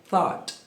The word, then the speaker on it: thought: E ela começa com som de th. Então, as pessoas confundem muito na hora de falar essa palavra aqui, porém a pronúncia dela é thought.